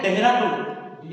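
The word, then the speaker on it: Dehradun: management 2025 held at देहरादून देहरादून ना तो spelling केमती लिखा जाए देहरादून एच आसीबो डी एच आसीबो किंतु प्रोनाउंस हो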